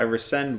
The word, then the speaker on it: rescind: So I rescind what I just said.